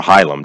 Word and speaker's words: hilum: we look at the Helm of the kidney or hilum depending on how you pronounce it hilum hilum that part of